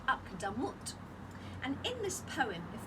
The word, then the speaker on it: Akdamut: That's a beautiful poem called Akdamut, 3 syllables. Okay.